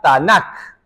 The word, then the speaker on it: Tanakh: Tomamos la T, la N y la K, se pronuncia Tanakh.